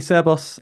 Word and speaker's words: Cerbos: conversation yeah absolutely uh did I say it rightly cus that's the right way to say it yeah absolutely seros seros doev for those